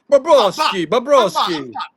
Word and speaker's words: Bobrovsky: Bobrovsky. Bobrovsky. I'm Bob. This is the thing with Bobrovsky. Rhymes with Porosky.